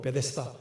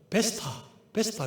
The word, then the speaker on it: 베데스다: 우리는 뭐 베데스다 싶잖아요. 보통 이제 성경을 잘 모르는 분이나 교회 나가지 않았던 분들은 베스타 그러더라고요.